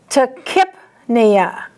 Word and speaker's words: tachypnea: Regardless of what your book says, there's only one pronunciation that you should say for this word. Tachypnea. Like K-I-P. If you say the other pronunciation that your book says, I promise you, you're going to add a letter in there that doesn't belong.